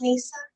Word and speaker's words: Nessa: Are you Nessa? Yes, but it's pronounced Nisa.